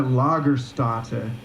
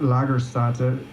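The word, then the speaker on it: Lagerstätte: to start with it's a lager Stata it's a German word I think I'm saying it right a lot lager start to correct us please that means it's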